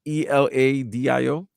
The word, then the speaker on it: Eladio: Is that how you pronounce the name? Eladio. Eladio? It's Eladio.